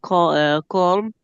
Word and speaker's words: calm: Wind and the sea was calm. The uh cold cal. The band were playing. L is silent. Don't pronounce M. Yes. Calm, calm, calm.